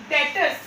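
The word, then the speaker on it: debtors: इसमें B silent होता है, ठीक है, डेटर्स नहीं बोलेंगे इसको, डेटर्स, ठीक है।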